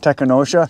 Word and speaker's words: Tekonsha: his vehicle the same one yep and uh technosha that's how you say it yes Prodigy P3